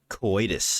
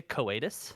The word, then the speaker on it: coitus: when it comes to coitus as the kids call it these days did you say koatus hawaii keep pronouncing it correctly coitus coitus sexual intercourse my